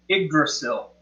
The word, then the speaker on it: Yggdrasil: Yggdrasil.